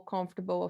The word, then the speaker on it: comfortable: in the sound uh most people they will stress the end of the word where you should be stressing the beginning vegetable comfortable affordable okay